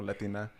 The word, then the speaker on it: Latine: like the gender neutral correct terms to Latino Latina so there's Latino Latina then there was latinx